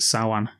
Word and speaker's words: Samhain: He mentions the Festival of Samhain, which was actually written on the chalkboard in Halloween 2 when Loomis is... So that was Sam Hain, isn't it? It's pronounced Samhain.